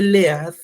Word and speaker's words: lead: vamos a llamar lead se escribe lead pero se pronuncia lead o también ustedes le